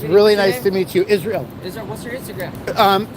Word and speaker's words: Yisroel: ahead dude it's really nice to meet you Israel Israel what's your Instagram um forget Instagram go on YouTube it's spelled y i s r o e l